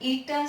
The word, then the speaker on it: eta: इस सिंबल को Greek letter eta से प्रोनाउंस करते हैं.